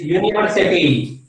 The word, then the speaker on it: university: UW is university. Okay, university. U is there, but what is the spelling of U? University की जो pronunciation है वो YOU की तरह है.